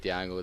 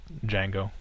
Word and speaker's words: Django: Yeah, I might go see Django this week actually. It's Django. Django, not The Django. D, the D is silent.